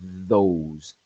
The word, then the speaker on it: those: El ejemplo de este es, por ejemplo, la palabra those, those, those. Cuando yo produzco esa palabra, las cuerdas vocales vibran. Entonces la palabra those tiene un sonido de la TH sonoro.